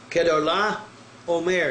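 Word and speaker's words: Chedorlaomer: Kedar-Laomer is the way it will actually be pronounced.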